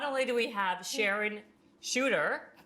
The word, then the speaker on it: Sharone Chuter: Not only do we have Sharon Chuter, right?